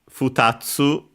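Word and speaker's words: 二つ: Then we have futatsu. Futatsu should be accented on the tsu.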